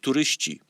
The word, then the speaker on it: turyści: But in Polish you say turysta, turyści. See, the last consonant of the word turysta is ty in singular. In plural, you change it to ci. So you pronounce it turyści.